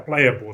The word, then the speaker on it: Playa3ull: a y a the number three u l playable that's how it's pronounced so let's jump into playable what is